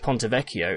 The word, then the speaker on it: Ponte Vecchio: where it's kind of going here now with ponte vecchio it's a little bit different ponte vecchio means